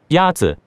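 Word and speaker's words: 鸭子: Is it Yazi? Yazi is pronounced with a first tone. In Mandarin, there are four tones, which are essential to distinguish the meaning of words. The first tone is a high-level tone.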